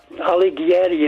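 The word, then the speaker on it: Alighieri: And um uh Ali Giatti is spelled A L I G H I E R I.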